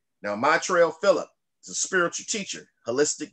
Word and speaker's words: Maitreya Philips: I'm with an amazing gentleman, Maitreya Philips. I say it right? You said it right. You said I said it right. I did it right this time. Maitreya Philips.